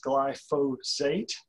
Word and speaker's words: glyphosate: It's pronounced glyphosate, and it is the world's most commonly used herbicide.